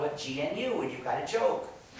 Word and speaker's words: GNU: our system and so Badoo stands for good news not units that's why it's a recursive acronym